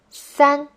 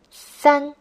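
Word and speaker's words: 三: the fourth stone are three is sun first sun now you can say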